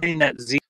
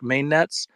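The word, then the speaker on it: MainnetZ: by the way we're main net z uh phonetically looks like main Nets um but we are main net Z but no biggie yeah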